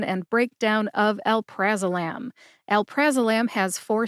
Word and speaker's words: alprazolam: pronunciation and breakdown of el prazolam el praam has four syllables Al like Alabama pra like practice practice Mak Perfect Right